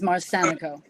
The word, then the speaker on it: Marsanico: Yes, and the pronunciation of my name is Marsanico. Marsanico, I do apologize.